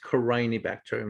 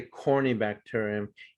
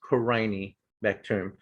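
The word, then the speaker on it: Corynebacterium: killed a lot of people um and it's pronounced crying bacterium not corny okay so if i hear someone say corny bacterium you know i'll roll my eyes and say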